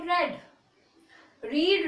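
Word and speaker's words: read: व्हाई हैड ही नॉट रेड। रीड रीड रीड, तीनों जो spellings होती हैं रीड की वो सेम रहती हैं, लेकिन फर्स्ट फॉर्म को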